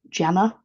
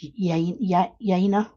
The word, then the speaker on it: Jana: Now I've got a big sticky note because there's a lady called, I kept calling her Jana, and it's Yana or something like that.